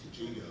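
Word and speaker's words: Yigo: Holler for Jigo. And I pronounced it right, which is surprising.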